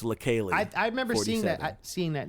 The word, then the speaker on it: Leikeli: It's pronounced really different from how it looks. It looks like it should be like Lakely, but it's Lakeli.